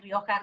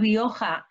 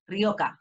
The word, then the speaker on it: Rioja: can understand totally that the sound ha which is very spanish is complicated to pronounce in different languages and yes normally when i heard the word rioja in england i used to listen ka ryoka rioka but i think for